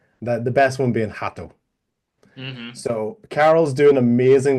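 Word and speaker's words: rato: is to remember that when the word begins with the letter R, in Portuguese, it's pronounced from our perspective like a H. The best one being hato.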